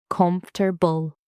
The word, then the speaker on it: comfortable: Many learners say every syllable separately, but native speakers often say comfortable.